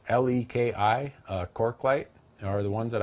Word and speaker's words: Leki: I use Leaky or Lecky. I'm not sure how you pronounce it. It's Leki.